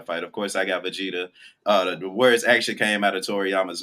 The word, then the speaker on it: Vegeta: with Goku I guess I like his name better than vegar no you can pronounce his name that's what it is you can actually pronounce his name hey how how you pronounce all them hard words but you can't go and actually pronounce e you got to research see right here like you pronounce everything else apparently I'mma assume correctly but you can't get Vegeta right I'm aall I'm aall